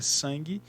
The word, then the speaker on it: sangue: Quando a gente pronuncia a palavra sangue, o U ele não é pronunciado.